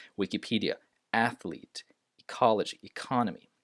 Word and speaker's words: Wikipedia: You notice the E here. Wikipedia, not Wikipedia.